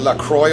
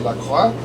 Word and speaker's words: La Croix: Of course they pronounce it La Croix over here, but I'm European, so I'll say La Croix.